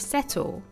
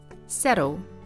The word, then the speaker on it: settle: First of all, notice the pronunciation of settle. In American English, this is pronounced with a soft flap T, settle.